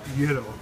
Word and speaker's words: gyro: Euros or gyro? Euros. The technical pronunciation is gyro.